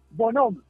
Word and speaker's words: Bonhomme: ¿Tu apellido se pronuncia Bonhomme o es Bonhomme? Bonhomme.